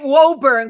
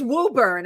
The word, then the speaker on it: Woburn: toxic water capital of Massachusetts Woburn I always pronounced it Woburn because I I know it um but it's Woburn I've been saying it wrong no that's okay